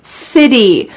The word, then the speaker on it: city: welcoming city city also this word has a t change to a d City I've always wanted to